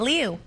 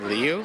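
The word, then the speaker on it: Liu: Oh, I think it's Alyssa Leu. I thought it was Alyssa Lou until this point, but maybe I haven't seen it wrong.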